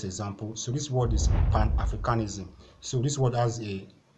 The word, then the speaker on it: Pan-Africanism: Pan-Africanism. The stress is still on the A, is still on the A part. Okay, the first syllable.